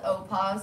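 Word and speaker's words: OPAWZ: me this is nova so this is called opos it's spelled o p-a-w-z it is um a vegetable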